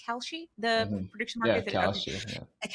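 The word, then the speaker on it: Kalshi: we have seen a couple of cases on Kelshi is that pronounced Kelchi the prediction market Kelshi and then the poly market specifically this weekend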